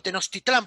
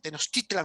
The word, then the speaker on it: Tenochtitlan: o Tenochtitlán para los españoles, ¿no? Porque Tenochtitlan más es la pronunciación suya, ¿no?